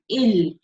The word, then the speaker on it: ils: If you see the spell ILS, but I'm pronouncing it ill.